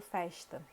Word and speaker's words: festa: A gente tem uma pronúncia bem específica para a letra S. Então, por exemplo, eu falo festa.